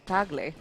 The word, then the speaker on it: Tagle: um Nico's last name the proper way to say it is actually tagley oh really yeah Filipino